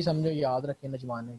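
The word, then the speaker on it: N'Djamena: उसके बाद छड है, नजमानी, ए डी कैप साइलेंट पढ़ते हैं इसका, तो नजमानी इसका कैपिटल है, ठीक है।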